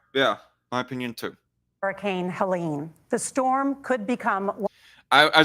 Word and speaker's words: Helene: for the side note, I thought it was pronounced Helen or Helen for a while now, despite there being like an extra E at the end of it. But I guess it's pronounced Helene is how the hurricane is being, is what the hurricane is being called.